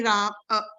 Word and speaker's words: रामः: जैसे रामः में राम अ है तो रामः। हाँ यस माता जी, रामः में अकार है लास्ट में, इसके वजह से रामः बोलेंगे, ठीक है? विसर्ग में भी ऐसे प्रोनाउंस होना चाहिए, रामः।